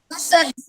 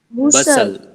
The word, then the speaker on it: bustle: So tell me, what is this word? Busal. Bustle. No, it is bustle, meaning hubbub, a lot of noise.